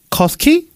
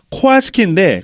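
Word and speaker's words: Kowalski: 검사를 받으려고 병원에 갔는데 저쪽에서 웬 이민자 간호사가 커스키? 가스키? 커스키? 고알스키. 코알스키인데 코알스키 발음 못해.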